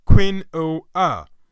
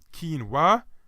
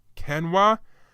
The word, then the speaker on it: quinoa: because its numerous development if you apply standard English rules you think it'd be pronounced as Queen oh let's actually a Spanish weather has numerous except the pronunciations including quinoa quinoa and even canoa these ancient grains could